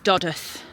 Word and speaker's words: Dodworth: And you'll notice it's it's spelled Doddworth, but the local pronunciation is Dodith. They don't pronounce a W.